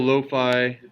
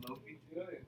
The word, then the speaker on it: lo-fi: And I need to turn my cool lo-fi hip-hop radio off. That's on. Wait, isn't it pronounced Lofi? It's lo-fi.